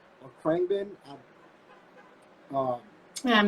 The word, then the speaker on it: Khruangbin: Like, like I don't know if I'm pronouncing it right. It's Krungbin or Krangbin.